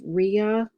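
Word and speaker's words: -rrhea: that another one is RIA RIA you've got to remember those two R's and that H that seems to be an odd combination and it is but make sure two hours and an H when you're going to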